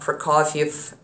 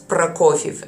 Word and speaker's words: Prokofiev: As well as, not Prokofiev, it's Prokofiev. Again, you have to roll your R's.